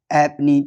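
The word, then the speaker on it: halfpenny: एफ केवल एक word में साइलेंट होता है। हैपनी। ठीक है ना? हैपनी। हैपनी में जो है ना वो एफ साइलेंट होता है। यहां पे ये लिखा हुआ है हाफ पेनी लिखा हुआ है। लेकिन ये हैपनी होगा।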